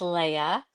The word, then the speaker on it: Leah: My name is pronounced Leah.